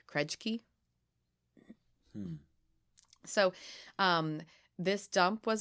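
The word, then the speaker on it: Krejci: turnable kind of experience it's called the croject key I hope that's how you pronounce it krej key crunch key okay dump yeah it's k-r-e-j-c-i krej key so um this dump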